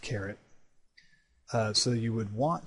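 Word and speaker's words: caret: to use this carrot operator it's actually it's pronounced carrot uh so you would want to write this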